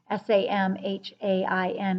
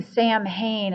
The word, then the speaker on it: Samhain: at the end of october is known as samhain now you see that pronounced or spelled as samhain s-a-m-h-a-i-n and sometimes people have pronounced doing sam hayne it's a way it's a way of saying